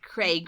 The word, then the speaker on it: Craig: How come you pronounce Craig and rain differently? Craig rain. Yeah. I say it rhymes with rain.